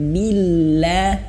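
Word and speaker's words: بالله: Billah. Kemudian lafaz Allah di sini perhatikan ibu bapak, lafaz Allah di sini tidak tebal ya, karena sebelum lafaz Allah ini ada huruf ba yang berharokat kasroh.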